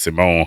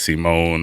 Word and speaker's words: Simone: to pronounce his name I want to say it's Simone I feel like that's how they pronounce it in the show it's not Simon but uh I digress but